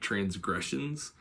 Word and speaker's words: transgressions: So um to switch on gressions because that's where the stressed syllable is of that word.